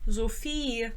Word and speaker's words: Sophie: ugh I hated that my name is Sophie zofi that's how you say it in German so um but every